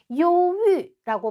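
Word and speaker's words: 忧郁: 요유라고 발음을 하고요.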